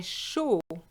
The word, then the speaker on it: chaud: If you're hot, you would just say j'ai chaud. J'ai chaud. The D is silent.